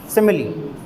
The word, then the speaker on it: simile: अच्छा, इसका प्रोनाउंसिएशन भी ध्यान रखिएगा, सिमिली, हाँ सिमिली, प्रोनाउंसिएशन ध्यान रखिएगा भाई। सिमिली, ये इसका प्रोनाउंसिएशन है। फोनेटिक सिंबल्स हैं ये, फोनेटिक सिंबल्स। सिमिली, ये इसका प्रोनाउंसिएशन है, सिमिली नहीं होता है, सिमिली।